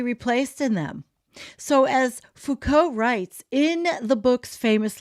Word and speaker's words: Foucault: Foucault, am I pronouncing it right, Jennifer? Foucault. Foucault.